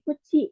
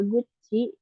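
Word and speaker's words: 口: kita lanjut ke kanji Kuchi ya atau mulut Oke untuk cara bacanya itu ada Uci atau bisa juga Gucci ini tergantung Biasanya kalau guci itu kalau disambung dengan anjing yang lain ya biasanya terus ada cara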